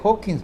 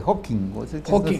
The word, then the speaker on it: Hawking: Porque además hay una advertencia de Hawkins, precisamente, de Hawking, la S no se pronuncia, que él se pone